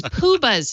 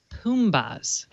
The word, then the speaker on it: Poobahs: Oh, it's Poobahs, not Poombahs.